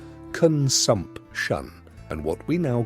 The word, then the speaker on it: consumption: By the time they are 30, many of them will be dead from what was then called consumption, pronounced con-sump-shun, and what we now call tuberculosis.